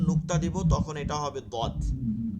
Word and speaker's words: ضاد: صاد এবার এর উপর যখন নুক্তা দিব তখন এটা হবে দদ। এই দদটা হচ্ছে ضاد এই জিহ্বা, জিহ্বা তো ভিতরে দেখাতে পারতেছেন, ধরেন এই একটা আঙ্গুল, এটা জিহ্বা, জিহ্বাটা তো এবার লাগানো থাকে, জিহ্বার দুই সাইড, ঠিক